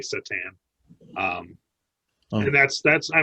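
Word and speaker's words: C'tan: of the void dragon it's like the board game that's how they pronounce it um okay so katan yeah okay um so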